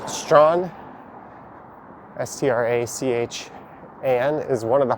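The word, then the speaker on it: Strachan: some of the names strawn s-t-r-a-c-h-a-n is one of the hardest is it a n or e-n it's one of the two but either way it's pronounced strawn there's also rotsusvilles or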